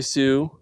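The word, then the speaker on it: Sioux: But it's spelled S I O U X. Like the tribe. The Sue tribe.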